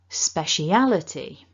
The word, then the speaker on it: speciality: all of that back together remember two stresses speciality repeat after me speciality and there we have